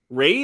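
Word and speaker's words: Ralph: a blockbuster um uh Rave finds is that how you say his name right Ray finds yeah Ray or Rave I think it's Ray Ray it's spelled like Ari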